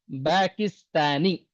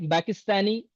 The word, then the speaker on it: Pakistani: In Arabic language, there is no P. All the P sound will convert into Ba in Arabic. Always remember. Paris. How do you say? Paris. Every P will turn into Ba in Arabic. Because there is no Pa in Arabic.